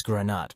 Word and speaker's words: Granat: Maurice, how did you pronounce Maurice's last name? Granat.